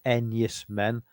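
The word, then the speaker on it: Enys Men: It's spelled E E N Ys M I N. Two separate words. Nice man. But it reads Enus men.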